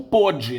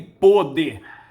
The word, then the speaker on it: pôde: O primeiro, na língua portuguesa nós temos esse P-O-D-E, ele pode ser pronunciado como pode ou pôde, não é? O verbo poder no presente é Ele pode, no passado, ele pôde.